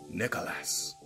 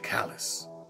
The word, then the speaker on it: Nicalis: And I'm going to say it right this time. Nicholas. Nick. I still didn't say it right. Nicalis.